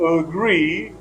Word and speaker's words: agree: to examples for example the second sevel of agree is stressed the word agree which